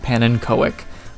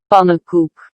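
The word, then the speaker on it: Pannenkoek: wrong in my defense whenever i hear people talking about him everyone pronounced it like panon koik but a high number of dutch people have informed me that it's pronounced poop this last section of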